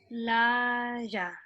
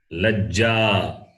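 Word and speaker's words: लज्जा: So you have to focus on the long vowel and short vowel. Okay. You're making the not make the long short, shorter long. Lajja. Laja. It is not laja. It is not laja also. It is la. The last vowel is a. Ja. That a is there. So lajja.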